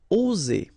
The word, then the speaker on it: oser: One S between two vowels will produce the sound Z, oser, okay?